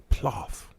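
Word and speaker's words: plov: the hell is pilaf ploth how do you say it you pronounce it like golf but the before the o p-l-o-f anyway it's a russian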